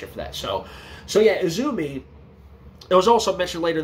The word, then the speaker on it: AZM: So then in walks Stardom talent Izumi, you know, spelled AZM, you know, it's pronounced Izumi. So Izumi walks in and, you